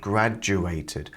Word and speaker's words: graduated: I I I then the D and graduated is pronounced like a j sound graduated graduated graduated graduated you